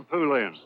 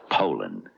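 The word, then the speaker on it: Poulan: wouldn't use anything but a puland. Poland, Ed. Poland. And for over 30 years, they've been mispronouncing our name. Pand a p. So, we'd like to remind you that our name is Poland.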